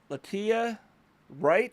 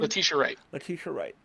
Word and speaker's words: Letitia Wright: Latia Wright, I think is how you pronounce her name. Letitia Wright.